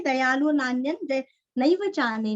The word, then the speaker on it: नान्यं: नान्यन, नान्यन जैसे अन्य वैसे यहाँ पे नान्य अनुस्वार का उच्चारण आधा न, नान्यन।